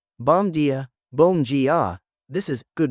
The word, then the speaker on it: bom dia: Bom dia, bom dia. This is, good morning. Bom rhymes with home but with an M at the end.